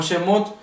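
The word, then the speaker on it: שמות: significa salida supimos que en el hebreo realmente se debe pronunciar y decir como shemot relacionado con la primera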